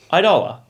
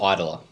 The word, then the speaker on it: Eidola: of reactions we're doing idola ettola did we work out how to pronounce that last time i think it's idler idler yeah yeah cool we